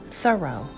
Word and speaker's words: Thoreau: of society i just learned that it's pronounced thorough it's pretty thorough to pronounce it thorough so henry david thoreau who was best friends